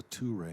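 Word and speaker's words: Ture: There's a tu-ray in there.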